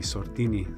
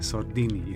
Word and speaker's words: Sordini: Have I pronounced the surname correctly? Sordini. Sordini. Sordini, Yes, Italian.